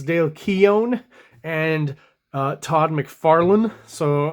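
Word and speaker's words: Dale Keown: how to pronounce specifically I seem to be getting comments about my pronunciation of Dale Kean is what I used to say and Todd McFarlan is what I used to say um but from General consensus it seems like it's Dale Keon and uh Todd McFarland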